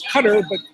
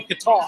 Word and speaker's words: Qatar: Well, I've been to well, it's Qatar, but many Americans say Qatar.